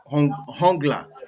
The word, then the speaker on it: Hongla: we go to this guy called um okay hungler did i pronounce it bro yes hang on hungler yeah martin hongla yes yes what's your rating what's your take